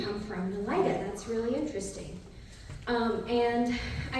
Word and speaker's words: Nelita: actually pronounced Nelita, but you got the last name right, a lot of people don't.